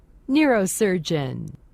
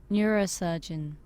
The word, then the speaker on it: neurosurgeon: 극 중에는 신경외과 의사를 뉴로서전이라고 표기하였는데 정확한 발음을 한번 들어볼까요? Neurosurgeon. Neurosurgeon.